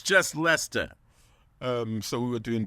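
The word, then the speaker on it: Leicester: the temps exactly and it's not Lester Square it's Lester Square it's Lester um two syllables don't let all the letters just fool you yeah it's just Lester um so we were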